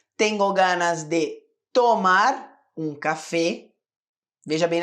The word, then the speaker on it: café: ganas de tomar um café veja bem a pronúncia não é café café Esse sou mais fechado ou você pode usar